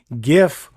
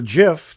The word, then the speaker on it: GIF: That's JPEG or JPG, PNG, GIF or GIF, depending on how you want to pronounce it, SVG, and WebP.